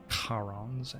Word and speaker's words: Charon: Charon's Ashes, I believe, is the Greek pronunciation.